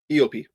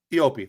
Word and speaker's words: eop: going to mispronounce but is it EOP op or IOP EOP EOP that's right okay thank you uh they're